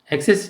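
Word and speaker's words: access: 그랬죠 마지막 표 줘 액세스 쪽 애를 없앨수 가려는 억세스 라고 발음하는 게 아니라 강세가 앞에 있어요 xx 는 동사로 쓰면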